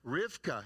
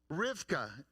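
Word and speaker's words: רבקה: rebecca's name in hebrew although they don't pronounce it rebecca they pronounce it rivka i think he is cheating next rivka is how the jews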